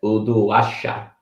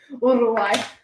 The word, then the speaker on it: Uruguay: Uruguay. You don't have to roll the R's, actually. But if you do, you sound better.